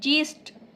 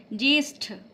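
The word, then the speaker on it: ज्येष्ठ: फिर देखिए नेक्स्ट वाला शब्द ज्यष्ठ। यह ठ है। ट नहीं होगा। ठ सही है। ज्यष्ठ। ठीक है?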